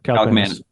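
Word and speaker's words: Kaliakmanis: Kalikmanis. Yeah, Kalikmanis.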